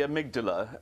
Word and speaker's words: amygdala: I suspect you're going to correct me on the pronunciation. Tell me a little bit about it. Well, I call it the amygdala, and it's a small area of the brain,